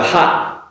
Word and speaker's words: hot: in the pronunciation of H-O-T, hot, compared with H-A-T, hat. Now, for the hot, makes an ah sound, hot, whereas the H-A-T, hat, makes an ah sound, so hat.